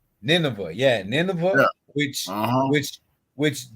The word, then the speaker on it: Nineveh: How you pronounce that? Nineveh. Nineveh, yeah, Nineveh, yeah.